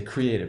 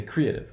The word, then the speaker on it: creative: I say create, and I say creative. I don't say creative, right? I say create, creative.